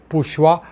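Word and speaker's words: 补习: 보습 학원의 보습은 발음이 부시입니다. 공교롭게도 시진핑을 포로로 잡는다는 부시와 발음이 같습니다.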